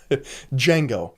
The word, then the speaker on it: Django: The D is silent. Django.